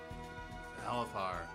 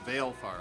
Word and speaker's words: Valefar: Valifar. There you go. Or Valefar. I don't know how you pronounce it. Valefar, Valifar.